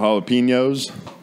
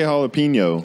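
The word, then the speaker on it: jalapeño: Fresh cut jalapenos. How do you say jalapeno?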